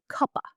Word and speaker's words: cup of: I drink a cup of coffee. Beautiful pronunciation. Did you notice how David connects the words cup and of? In natural speaking, it sounds like cuppa.